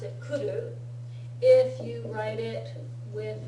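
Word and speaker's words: 来る: If you write it with mas, you have to remember to write it, to read it kimas.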